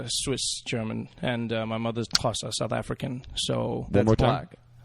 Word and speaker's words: Xhosa: Xhosa.